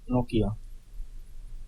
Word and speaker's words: Nokia: As long as we're here, should we get the Finnish pronunciation? Yeah. Nokia. Just like we say it.